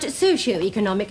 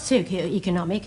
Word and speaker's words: socioeconomic: late for work secondly it is pronounced socioeconomic not Soo economic thirdly Tokyo is a